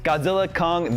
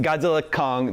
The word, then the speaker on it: Godzilla x Kong: this it is just Godzilla Kong the new EMP the new Empire the x is silent is that right uh that's right you